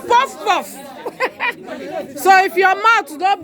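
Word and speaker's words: puff-puff: get the pronunciation right, you must do your mouth like this. Puff, puff. Yes. Puff, puff. No, that one is a posh one. Pronunciation depends on your accent. If you have an accent, it doesn't matter. Puff, puff. Puff, puff is African origin.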